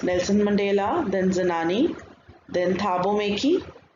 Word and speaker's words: Thabo Mbeki: The main character is Nelson Mandela, then Zenani, then Thabo Mbeki, the B is silent, and Mr.